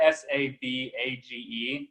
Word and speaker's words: Savidge: And Savage is spelled weird. It's not S-A-V-A-G-E. I'm gonna break it down. S-A-V-I-D-G-E. So. Savage.